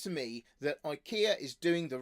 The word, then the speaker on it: IKEA: The second thing I wanted to talk about today was IKEA, which I know is really pronounced IKEA, but is easier to draw using the incorrect pronunciation.